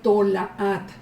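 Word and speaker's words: תולעת: La palabra original es tola. Es la letra Tab, Bab, Lamed y Ain. Pero en el momento en que lo pronuncia, en el Tanaj, cuando lo pronuncia Yeshua, él dice Tolaat.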